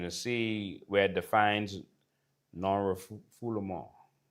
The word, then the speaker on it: non-refoulement: And you're going to see where it defines non-refoulement. It's spelled non-refoulement, because that's not how you pronounce it. All right, non-refoulement.